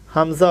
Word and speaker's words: হামজা: হামজা অক্ষর হলো কেরে শুরু হতে শক্ত করে পড়তে হয়। হামজা জবর আ, হামজা জের ই, হামজা পেশ উ। শক্ত হবে, টাটকা হবে উচ্চারণ। হামজা জবর আ, হামজা জের ই, হামজা পেশ উ। ইয়া আর আইনের সাথে যেন মিশে না যায়। আইন গলা চিপে আর ইয়া নরম, আর হামজা হলো শক্ত।